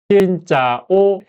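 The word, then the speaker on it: xin chào: 한글로 표기하자면 신짜오. 근데 거했죠? 짜오로 읽지 않아요. 이거는 보통 짜오로 읽지 않고 합쳐서는 거예요.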